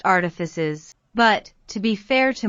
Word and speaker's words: Artifices: It's pronounced artifices, but, to be fair to myself, I knew that.